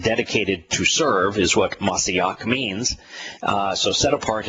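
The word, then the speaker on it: מָשִׁיחַ: and Psalms where uh masiak which is the the Hebrew pronunciation is used as a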